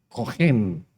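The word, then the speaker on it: cohen: al Señor la palabra original para sacerdote es cogen se escribe c o h e n y para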